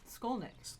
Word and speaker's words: Skolnick: Skolnick. Oh, just Skull. I thought it was something fancy, but it's we not have somebody. very fancy. Yeah, Yanni Skolnick.